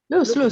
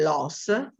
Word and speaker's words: lose: Yes, who said Lose. that? Lose. Lose. Yes, lose. Forget. Don't worry, Remember. it's just one O. The pronunciation is lose. Lose. Lo so che vi viene da dire loss, but it's lose.